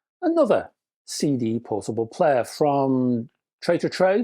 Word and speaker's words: Tree to Tree: CD portable player from Tray to Tray. I think that's how you pronounce it. I used to say Tree to Tree, but I think it's Tray to Tray.